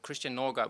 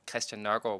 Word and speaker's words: Christian Nørgaard: So I have pronounced my name 2 different ways, or in like beginning of last season and beginning of this season. Okay. So I think I've probably pronounced it in an English way and then in a Danish way. Okay. So Christian Nørgaard would be the English way, and then Christian Nørgaard would be the Danish way.